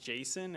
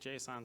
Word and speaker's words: JSON: it I also learned it's officially pronounced Json as of the 2017 standard but I can't break the habit of calling it Json so I'm not going